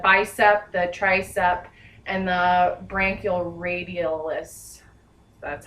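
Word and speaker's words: brachioradialis: All right, now I am going to perform reflexes on the bicep, the tricep, and the branchioradialis.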